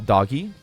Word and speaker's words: Dogi: There are some recurring characters, like Dogi, who I call Doggy, because it's spelled like doggy, but with an I, not a GGY.